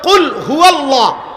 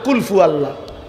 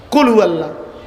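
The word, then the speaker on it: قل هو الله: আপনি এটা কি বললেন শব্দ তো হলো কুলহু আল্লাহ আপনি তো বললেন কুলফু আল্লাহ কুলহু আল্লাহ তো যেটা যেভাবে উচ্চারণ করার কথা ওইভাবে উচ্চারণ করতে হবে নয়তো এটা ঘাটতি রুকু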